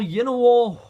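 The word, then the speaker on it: Llanowar: And next we have our Yenowar Waste. I have really no idea how to really pronounce this the correct way. Is it Yenowar Waste or Yenowar Waste? Double L as in a Y in Spanish.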